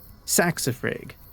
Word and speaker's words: saxifrage: Saxifrage. Okay, that makes more sense. Yeah, I was like doing a soft G.